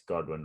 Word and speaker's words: Godwin: Is it Godwin? It's not Goodwin. It's Godwin, right?